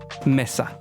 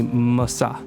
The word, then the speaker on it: Mahsa: So from what I can tell, English speakers usually say Mahsa anyways, but technical pronunciation, the traditional pronunciation of her name would be Mahsa. Mahsa. Not Mahsa. Mahsa.